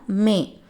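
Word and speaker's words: मैं: நான் அப்படின்னா மே. மே அப்படின்னா நம்ம ப்ரொனவுன்ஸ் பண்ணணும்.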